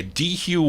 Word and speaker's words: Dehue: How do you pronounce D-E-H-U? Is that D-Hugh? Yeah, DeHue, West Virginia.